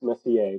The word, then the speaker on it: Messier: doing and very very happy to introduce Messier did I pronounce the last name correctly that is correct